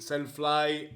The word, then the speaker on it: Selfly: you about the AEE Selfly, or pronounced Self fly Self takes a selfie, or selfly takes a selfly well I don't know ...